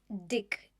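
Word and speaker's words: Dyck: So back in Selma, California, police chief Dick and it's spelled DY CK.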